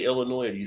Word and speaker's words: Illinois: it do you say Illinois or do you say Illinois there is no s in the past Illinois